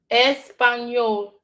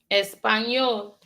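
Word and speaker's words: Español: Espanol. Espan. Not to be confused with just N. It is N espowerase for the beginning of this. The word. Let's see if you can say Spanish. Espanol.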